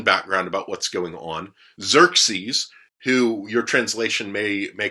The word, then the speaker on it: Xerxes: more interpretive it's going to say xerxes if you're using one that's a little bit more literal it's probably going to say josueris which would have been kind of his his persian slash babylonian pronunciation of his name instead of the greek